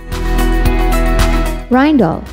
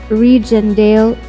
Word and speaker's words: Rijndael: against brute force attacks the correct pronunciation is rhine doll not regen dale or reindeer schema a schema